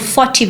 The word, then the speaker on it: FOTT TV: made it up I I'm like okay I want it to be f o t TV and um I want it called for TV because I don't want